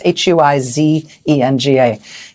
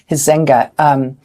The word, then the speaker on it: Huizenga: I think that's how you say his name. It's Huizenga. Huizenga.